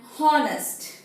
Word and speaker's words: honest: read this word and honest h o n e s t honest however the h is silent here and we say it